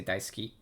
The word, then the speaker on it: 大好き: So ski is like. 好き It's not like that. You don't pronounce the su. It's just ski. 好き So that it becomes daisuki. 大好き Yeah.